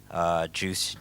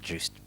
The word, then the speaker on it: Joost: Ladies and gentlemen, please let's welcome Joost. It's Joost. Apologies.